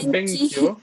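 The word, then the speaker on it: 勉強: Atención, es Benkyou. Benkyou. Benkyou Benkyou. shimasen. Ajá, so Benkyou des. shimashita. Hai. Benkyou shimasen deshita. Ok, perfecto. Benkyou es la pronunciación correcta.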